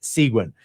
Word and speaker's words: Seguin: Oh, by the way, I'm told that it is pronounced Seguin.